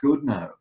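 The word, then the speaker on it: Goodenough: to someone who says no no no it be pronounced good now for sure yeah and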